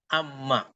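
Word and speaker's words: أمّا: Maka ini membacanya adalah amma. Amma. Ya, tidak ada bacaan lain. Mesti dibaca amma.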